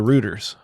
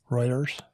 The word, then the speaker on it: Reuters: the sources according to rooters Reuters ruers isn't it roters Reuters Reuters R EU t e RS pronounced reuter well if you read